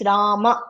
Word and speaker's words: Rama: In Sanskritam the akara should be pronounced. It's Rama.